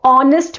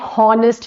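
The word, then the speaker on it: honest: sound an ऑनेस्ट मैन तो ऑनेस्ट बोलते हैं हॉनेस्ट नहीं बोलते ओके इसको प्रोनन्सिएट हम ऑनेस्ट करते हैं ओ ओ की आवाज़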